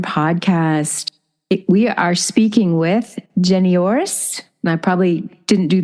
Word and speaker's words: Janoiris: the creative Warrior podcast we are speaking with jenoris and I probably didn't do that great but so let pronounce your name the correct pronunciation no you